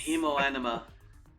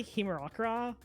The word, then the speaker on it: Hemoanima: Hemoanima. I keep wanting to say Himerakura, but I don't. That's not right at all. Yeah, it's Hemoanima.